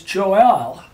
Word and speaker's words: Joel: And so it's not Joel, it's Joel, and that's E-L.